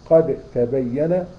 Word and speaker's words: قد تبين: فلما تيجي تقول قد تبين لا إكراه في الدين، قد تبين، فتنطقها ازاي؟ الدال والتاء أصبح زي الحرف الواحد، وتقول قد تبين. فين الدال؟ راحت خالص، كأنها شبيهة بالتاء لأنها ليها نفس المخرج، ماشي؟